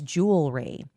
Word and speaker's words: jewelry: And then the other one is jewelry. And realtor. Cuz I hear people say jewelry and realtor. I say jewelry. Jewelry. It's jewel-ry. Jewelry.